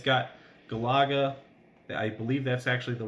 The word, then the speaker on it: Galaga: I mean, it's got Galaga. I believe that's actually the right way to pronounce it. I grew up saying Galaga, but yeah, that's one of my favorite games.